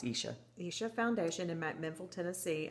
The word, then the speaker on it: Isha: I think I said Aisha before, and it's not. It's Isha, Isha Foundation in McMinnville, Tennessee, on this yoga retreat.